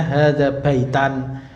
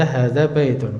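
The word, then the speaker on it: هذا بيتٌ: Nah, jadi di sini hadza baitun, nah, itu tidak mungkin. Nah, apa cara bacanya hadza baitan atau hadza baitin. Nah, itu tidak mungkin. Jadi tetap kita harus baca hadza baitun.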